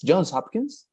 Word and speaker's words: Johns Hopkins: with N, with S, Johns Hopkins. Yeah. Yes. All right, That's the Johns thing. Hopkins. Hmm. All right. So yeah, Jones so in X. Johns Hopkins.